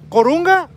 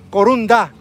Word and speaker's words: corunda: ¿Corunga o corunda? Corunda. Ok, está bien, sí lo pronuncié más, ahí más o menos bien.